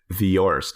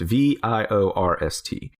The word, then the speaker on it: Viorst: I think it's pronounced Viorst. Viorst.